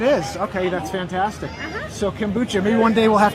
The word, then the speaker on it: kombucha: If you guys want to come down and get your kombucha, is that how I said it? Kombucha?